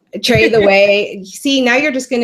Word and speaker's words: Tretheway: so how do you trade the way i trade the way see now you're just going to confuse people I tell people that it rhymes with take your breath away truffle there you go